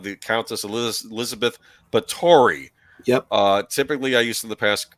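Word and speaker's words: Báthory: this is count the count as El Elizabeth bori yep uh typically I used in the past pronounce it B but it's really bori um okay Hungarian Countess who if you know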